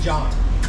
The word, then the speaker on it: Jean: pronouncing that incorrectly say John subscribe G and j j e a n is pronounced John apparently okay and then Marie